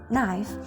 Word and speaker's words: knife: A good example of this change is in the word knife. In Middle English, it was pronounced knife, but after the vowel shift, the K becomes silent and the E turned to the diphthong I.